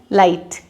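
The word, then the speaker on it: light: GHT है एंड में, तो यहाँ पे GH नहीं प्रोनाउंस होगा। आई को थोड़ा लंबा खींचेंगे और हम इसे बना देंगे लाइट।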